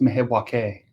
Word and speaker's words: Milwaukee: It's pronounced Milwaukee, Oh, wow. according to Alice Cooper.